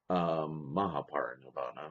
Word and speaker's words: Mahaparinirvana: the teachings all the way to Shakyamuni's Parinirvana, Mahaparinirvana, let me say it correctly.